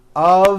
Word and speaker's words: of: speakers make this mistake even though the word of is spelled with an F we pronounce the word of with a voiced V I know this sounds